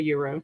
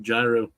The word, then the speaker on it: gyro: yeah the G is supposed to be silent I believe so never ever heard a called a Euro I've always been told of Gyro H you um East coasty say I